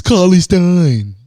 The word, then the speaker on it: Cauley-Stein: Cauley-Stein. Cauley-Stein. It's Cauley-Stein.